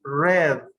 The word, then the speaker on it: read: In past tense is read, like the color.